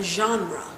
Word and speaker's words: genre: but it is a genre. Where's my... Genre is spelled G-E-N-R-E, and it's pronounced genre.